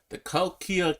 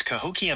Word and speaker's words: Cahokia: things and we took a look at the Kalkia Caves in freaking Illinois. I keep getting that pronunciation wrong. What's the right pronunciation, Gemini? You're close. It's Cahokia Mounds State Historic Site.